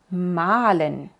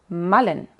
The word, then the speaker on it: malen: en name malen rat la a suena más larga Oy es la diferencia digo malen y no malen digo y no name